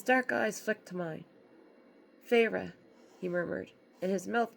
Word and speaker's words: Feyre: She fixed her wide eyes on me and said, Please, Feyre? She drew out the 2 syllables of my name, Feyre, into the most hideous